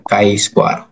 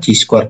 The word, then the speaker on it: chi: orangama itu bahasa Jerman namanya adalah bacanya k squ Jangan nanti pas ujian Ibu baca pula c squ c squ nanti malu